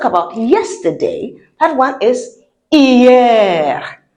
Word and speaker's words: hier: No, we don't pronounce the H. So we say hier because I sounds E.